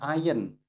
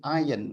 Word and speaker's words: iron: Bacanya iron, ya. Tulisannya iron, tapi iron bacanya.